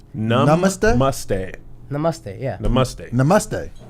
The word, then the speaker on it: Namaste: Tell us how to pronounce it Namaste. correctly. Num us te. Namaste?